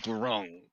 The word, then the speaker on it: Grunk: Grok, Grunk, not Grok, Grok.